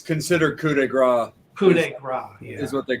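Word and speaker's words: coup de grâce: it is yeah it's the could it's considered coup de grace is what they call it the kuda grace album everybody always pronounces it wrong oh trust me i would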